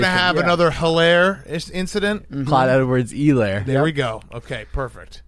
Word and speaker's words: Clyde Edwards-Helaire: that I one looked day it up you right have before to confirm the We're not going to pronunciation. have another hilarious incident. Clyde Edwards-Helaire.